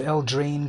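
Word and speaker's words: Eldraine: syllable on the first I put the ACK the emphasis on the first syllable el drain throne of El drain but I've heard people also say throne of El drain putting the syllable of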